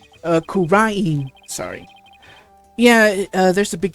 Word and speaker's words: Kura'in: That's how we greet people here in Kura'in. Kura'in, sorry.